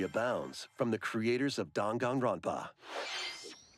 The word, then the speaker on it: Danganronpa: from the creators of Danganronpa. Danganronpa. Why do you say it like that? Welcome to the city. I guess I've only heard it as like Danganronpa, which is probably not at all correct.